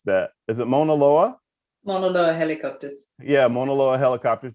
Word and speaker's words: Mauna Loa: for, I forgot to ask you how to pronounce that. Is it Mauna Loa? Mauna Loa helicopters.